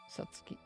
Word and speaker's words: Satsuki: Satsuki. Saki. As you can see here, sa, tsu, ki. The tsu is regular sized, so that's why you pronounce them all three separately as Satsuki.